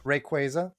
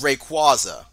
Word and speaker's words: Rayquaza: works with no gay rayquaza no and I also pronounce it correctly there we go it's Rayquaza no it's very quick it's rayquaza you uncultured [ __